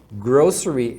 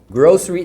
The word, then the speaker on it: grocery: fala go grocery shopping grocery é as coisas de mercado tá grocery Tem gente que fala grocery tá tem as duas pronúncias grocery grocery por isso